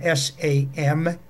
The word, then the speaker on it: Samhain: ancient Celtic festival of Samhain. That's spelled S-A-M-H-A-I-N, pronounced Samhain in Gaelic, which was an end